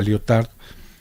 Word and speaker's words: Lyotard: particular a Jean-François Lyotard, pronunciemos el nombre de él en francés, él es francés, ¿no es cierto?, a Lyotard, que es un poco